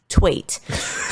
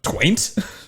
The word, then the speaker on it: Twait: Yeah, make sure you pronounce the I in that name. All right, because we're like, don't accidentally pronounce an N. We're one vowel away. What, Twaint? Taint. You got to get rid of the W.